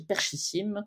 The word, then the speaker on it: Perchissim: les barres de recherche vous cherchez perchissim comme ça se prononce vous trouverez ça voilà